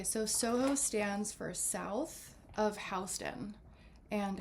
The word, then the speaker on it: Houston: stands for south of Hston and Hston is a main street here that runs east to west and west to east. It looks like it's spelled house uh Houston, but and that was